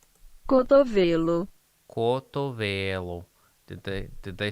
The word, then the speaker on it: cotovelo: Oh, with the accent, the Cotovelo with the accent on the E.